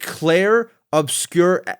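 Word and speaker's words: Clair Obscur: I can barely pronounce the game. Is it Claire Obscure Expedition 33?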